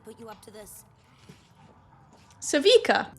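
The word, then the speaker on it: Sevika: Savika. That's how you pronounce it. Not Sevica.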